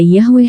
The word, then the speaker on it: Yahweh: Nama Yahudi untuk Tuhan diwakili oleh tetragramaton, YHWH, dapat diucapkan sebagai Yahweh atau Yehuwa.